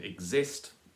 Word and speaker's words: exists: exist or exists and exists is the one that sounds right with the stress on the second syllable he may again he's